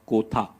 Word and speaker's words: Kotha: guys to tell them it is king of kotha and not the usual Hindi pronunciation it's a fictional Town